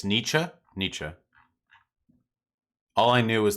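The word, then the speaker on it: Nietzsche: It's Nichzche. Na. All I knew is that there was another noise. There was another vowel noise after the ch.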